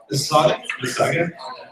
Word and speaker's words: Mississauga: Mississauga.